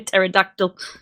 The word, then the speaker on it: pterodactyl: Oh my god, you sounded like a pterodactyl. The P is silent.